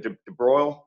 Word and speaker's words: de Broglie: see Charles de debroglie de broiled it's spelled almost de Broglie but not pronounced that way I think it was